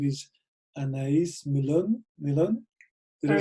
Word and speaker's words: Anaïs Millon: So maybe you can say it properly. I always like guests to say their name the way you say it, so everyone can hear. Anaïs Millon. Anaïs Millon.